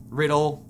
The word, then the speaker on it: Riddell: Pronounced Riddle.